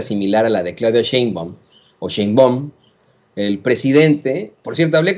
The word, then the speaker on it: Sheinbaum: No voy a entrar en detalles en eso, porque se ha convertido en una controversia la pronunciación del apellido. La doctora dice Sheinbaum, pues así le vamos a decir, ¿no?